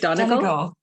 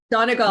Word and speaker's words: Donegal: How do you pronounce that? Is it Donegal? Donegal.